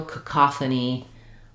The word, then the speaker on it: cacophony: So letter O says the ah sound, and the first letter A is going to be an unstressed schwa. So it's going to sound like ka, ka, th, ni.